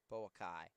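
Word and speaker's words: Boakye: First free throw is up and good for Bokeh. Boakey. I think that's how you say it. Boakey. Boakey goes 2 for 2 from the stripe. 48-46. Boakey. Boakai. Boakai. That's how I say it.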